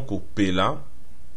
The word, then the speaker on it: kopela: Et ça se dit kopela, kopela. En fait, cela se prononce vraiment kopela, comme briller, car le deuxième cas qui suit le préfixe ko se prononce rarement.